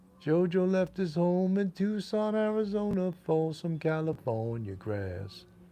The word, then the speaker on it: Tucson: i was like tucks in arizona because i phonetically then someone told me it's not tux and it's tucson oh okay it's like in new york city